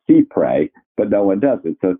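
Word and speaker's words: cy-près: distinction in our law people use the word sight pray but actually that's a French term that should be pronounced sea pray but no one doesn't so thank you and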